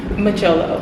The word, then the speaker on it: mjolo: Macholo. Macholo. Okay. Alright. Okay. Yeah. Macholo. It's spelled Mjolo. It's not an English word. Oh, it's not like it's like I think it's Zulu.